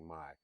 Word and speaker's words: Mai: It looks like it's spelled May, but it's actually Mai.